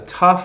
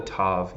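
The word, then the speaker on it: ת: the T letters right we have tough or tough and Ted they both for our for our purposes they make the same sound but they are not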